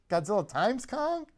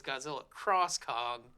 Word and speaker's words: Godzilla x Kong: okay I'm very confused how the hell do we pronounce this movie's title Godzilla xcong Godzilla times Kong well I mean I thought it was Godzilla cross Kong because Japanese things do the X as cross but people are calling it Godzilla X Kong which sounds like a